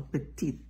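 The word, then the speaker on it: petite: a PE on E so Petit you pronounce a little bit at the end very good and how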